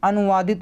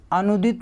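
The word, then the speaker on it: अनूदित: देखिए अनुवादित लिखा हुआ है, अनुवादित नहीं होता, इसको काट दीजिए, गलत, अनुदित होता है, अनुदित, ठीक है।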